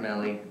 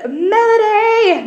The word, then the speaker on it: Melody: to do all right Mellie it's Melody not melee my name does not rhyme with smell all right jeez I